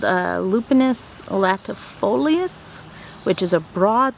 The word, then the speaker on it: Lupinus: varieties so I looked it up and it's pronounced lupinus so even though I call it Lupine I'm